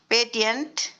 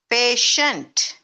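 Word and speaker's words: patient: நேட்டியன், ஆக்டியன், பேட்டியன்ட். No, this is நேஷன், ஆக்ஷன், பேஷண்ட்.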